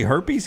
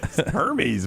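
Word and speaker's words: Hermès: for a gum holder uh did you say herpes gum Hermes man give me some of Hermes uh balisa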